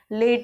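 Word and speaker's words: late: फिर वही सेम चीज़ जैसे लेट हो गया, लेट में ई जो है वो हमारा साइलेंट है, हम उसे प्रोनाउंस नहीं करते, हम लेट ही नहीं बोलते, लेट बोलते हैं।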